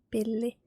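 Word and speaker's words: pilli: let's let's take an example of the word Billy Billy which means straw p-i-l-l-i billi if you say pili that means stick so yeah you need to pronounce the else two times Billy not Billy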